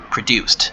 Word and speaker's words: produced: end and is produced produced the D at the end is pronounced as T produced to produce something